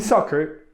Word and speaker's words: soccer: Double C in English has 2 possible pronunciations. In except, it is pronounced like X, and in soccer, like K.